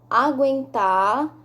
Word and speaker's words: aguentar: leia estas palavras em voz alta sangue enguiça aguentar linguiça nas palavras sangue e enguiçar não pronunciamos a letra u vamos repetir sangue e